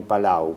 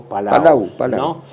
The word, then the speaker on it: Palau: de Filipinas con las Islas palaos que se pronuncia también Palau Palau o palaos eh donde se dio